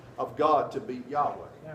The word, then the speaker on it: Yahweh: of God to be Yahweh J ah W now again this goes back to the German pronunciation because we would spell